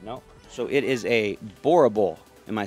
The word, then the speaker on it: Boerboel: french master but no so it is a boerable am i saying it right boerable b-o-e-r-b-o-e-l lion